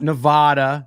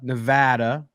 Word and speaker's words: Nevada: Not Nevada, Nevada. For those of you who are saying it wrong, you're welcome.